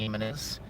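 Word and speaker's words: Jiménez: Jimenez with a J, because the J is like pronounced like a different letter in the Hispanics talk it.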